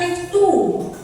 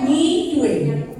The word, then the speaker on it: Mixue: Oh iya Bapak, bukan mix two, bacanya mixue. Ya, itu kan bahasa Chinese ya, bahasa Mandarin ya, mixue itu dari Cina.